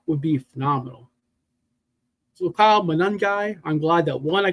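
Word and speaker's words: Monangai: So, Kyle Manungai, I'm glad that one I could pronounce his name and two that he went off and we're all right together for once. Moaning guy, I said it right, Jamie.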